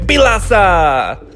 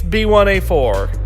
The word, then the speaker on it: B1A4: Okay, at this point, you'd think we're going to apply the Korean number pronunciation in this case too, thus making it Bilasa. Nope, it's B1A4.